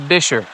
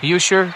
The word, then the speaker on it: Buescher: at bisher State Park I did confirm it's pronounced a bisher not buer not busher which is what I've called it my whole life let's have some